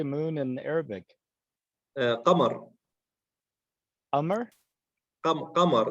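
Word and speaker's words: قمر: Qamar. It's like Qamr. Q, Qamar, Qamar, Kamar, Kamar. Qamar. Yeah, Qamar. Pr Yes, Qamar.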